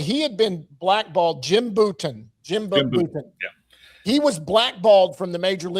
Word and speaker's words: Bouton: Bouton, that's how you say his name.